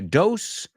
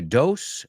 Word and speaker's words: dose: I'm going to take a dose and doze. Dose, doze. No, they are not homophones. So doze rhymes with close, cerrar, right? And the second word, dose, rhymes with close.